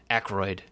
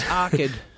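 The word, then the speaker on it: Arkyd: I've definitely seen the name because I always think I look at it and I think it says Aykroyd, you know, like the Dan Aykroyd. Yeah, but it's Arkid.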